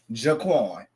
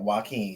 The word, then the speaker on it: Joaquin: I seen Jaquan. My bad. So yes, girl, Joaquin, y'all, everybody.